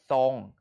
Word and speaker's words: ทรง: พร้อม นะ เริ่ม ทรวด ทรง ทราบ ทราม ทราย ทรุด โทรม ไหม นก อินทรีย์ มัทรี อินทรีย์ มี search นนทรี พุทรา ซับ แทรก วัด โทรมนัส ฉะเชิงเทรา ตัว ทร เหล่า นี้ เรา ออก สำเนียง เป็น เสียง ซอ ครู ขอ อีก รอบ